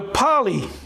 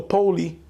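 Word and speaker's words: Polly: The poly is P-O-L-L-Y. It's either pronounced poly or poly. I would say poly.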